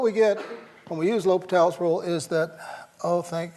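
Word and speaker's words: L'Hôpital: you do you use that famous rule that we all mispronounce when we see it written right we'll use the good old l hospitals rule okay it's l'hopital l'hopital's rule you have to differentiate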